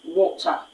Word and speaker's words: water: Now for the British, the standard British English, it is pronounced as water, water. Now unlike the previous pronunciation, there's an emphatic stress on the letter, the first letter of the second syllable, which is the letter T.